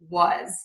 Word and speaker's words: was: we can visualize and these words are often pronounced with the z so we have the word has is was so how often do